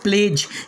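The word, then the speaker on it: pledge: इसके बाद में सातवां रूल है हमारा, जब डी के बाद जी आ जाए तो डी के बाद क्या आएगा? जी आएगा तो डी साइलेंट होगा। जैसे पहला वर्ड प्लेज, यहाँ डी को नहीं पढ़ना है।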